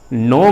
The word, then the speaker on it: know: इसलिए इस वर्ड में जो मेरा नो में KNO नो में पहला कॉन्सोनेंट लेटर है के, वो साइलेंट हो गया।